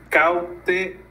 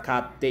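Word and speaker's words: かって: Kaute imashita. Katte imashita. Ok. Kaute Ka. Nada más la pronunciación es como tsu chiquita, no es u pronunciación, sino como brinca sonido anterior, sería este sonido.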